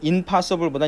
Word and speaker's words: impossible: 보통 이제 원래 in이 반대를 나타내는데 얘가 이제 n이 보통 이제 p하고 붙게 되면은 발음이 m으로 많이 바뀌어요. 그래서 이제 그러다 보니까 시간이 흘러서 이제 임이 돼버린 거죠. impossible보다 impossible이 발음하기 편하거든요.